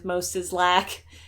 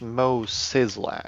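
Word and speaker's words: Moe Szyslak: Again, the the four item bundle right now is Moislac for the Simpsons. There's It's Mo Sizzlac. That's what I said. Moislack.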